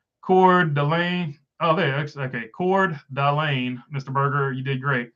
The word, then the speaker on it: Coeur d'Alene: Okay, Coeur d'Alene, Mr. Berger, you did great. Appreciate it. do my best. Not the greatest pronouncer of stuff, even when I know how to say it with this accent.